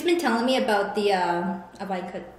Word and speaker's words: Ivanka: She's been telling me about the Ivanka... How does it pronounce her name? Ivanka Trump. Ivanka Trump. I just think of I want a Trump. So I go Ivanka okay.